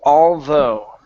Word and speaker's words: although: word is although again our teeth our tongue needs to be between the teeth it's though although although okay now end with an oo sound you're ending with a G saying Al okay instead